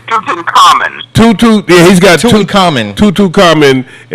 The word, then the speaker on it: Tutankhamun: because you Pronunciation. Tutankhamun.